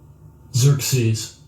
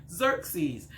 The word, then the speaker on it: Xerxes: not really hilarious but let's just learn xerxes okay xerxes xerxes that's how it's hanging how you pronounce that word xerxes all right so uh